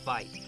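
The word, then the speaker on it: wyd: got their name from an Afrikaans word for why that's pronounced fight a little misunderstanding and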